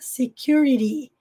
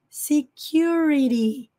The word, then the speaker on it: security: disregard Order that Order Security segurança Security no inglês americano tem entre sons de vogais tem som de R Security no inglês britânico Security